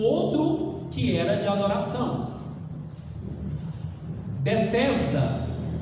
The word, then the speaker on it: Betesda: Bet significa casa, Tesda significa amor, compaixão, mas só que em hebraico não se lê Tesda, se lê Hasda, que significa misericórdia.